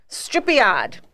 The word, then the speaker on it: stripiad: So, stripiad. Stripiad. It's not the same as mooshad. It rhymes though.